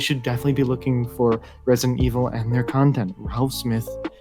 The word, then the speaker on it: Residnt Evl: Oh, just to mention, it's Resident Evil, but it's like spelled weird, so I pronounce it Resident Evil.